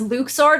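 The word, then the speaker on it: Luxord: one organization 13's member's name is pronounced Luke sword it's like no it's Luxor it's luxury what what parks sword right exactly as you're saying his name doesn't rhyme with suck sword there's a casino in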